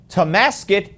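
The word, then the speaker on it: Tonasket: Mark is calling from Tomasket, Washington.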